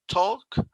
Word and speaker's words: talk: Entonces, no sé, Pacheco, sí, disculpa, talk, la pronunciación talk, no suena como talc de talco, ¿verdad? Talk, como que haces la boca un poquito así como redonda como la otra O.